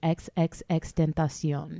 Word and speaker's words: XXXTentacion: For pronouncing it mad Spanish. But upon further research, that's his name. It's been determined that the way his name is pronounced is XXXTentacion. Right.